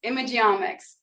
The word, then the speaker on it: Imageomics: at the end so this is the omx of images image omx so say it with